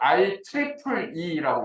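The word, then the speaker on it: IEEE: 그다음 I 이걸 어떻게 읽냐면 I 이렇게 안 읽고요. I 트리플 E라고 읽어요.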